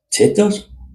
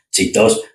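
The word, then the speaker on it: Cheetos: Y luego te digo yo, siempre me he preguntado, ¿cómo se dice? ¿Chetos o chitos? Que va, chitos, decimos chetos.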